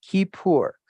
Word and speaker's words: Kippur: Okay, and that is Strong's Concordance 3725, and this is Kippur, pronounced Kippur.